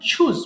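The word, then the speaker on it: choose: চুজ পছন্দ করা, আমরা এখানে সারা জীবন চ বলি, বাট এটার কারেক্ট উচ্চারণ কিন্তু ছ দিয়ে হয়। যেমন চাইল্ড, চিকেন, চিলড্রেন। এখানে হবে চুজ মানে পছন্দ করা, চুজ, চোজ, চোজেন।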